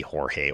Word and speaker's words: Jorge: And everyone back then called him George. But I can't imagine that this isn't a Bob Clemente type situation. Orta was born in Mexico, so it's gotta be Jorge Orta.